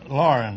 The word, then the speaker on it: Loughran: Loughran, huh? Is that the way you pronounce it? Lauren, that's close enough. I've been called Langhorn, Laughlin, McLaughlin, and lots of names.